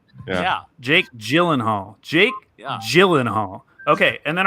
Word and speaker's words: Gyllenhaal: of the movies are movies that star Jake Gillen Hall who was in the movie Bubble Boy that's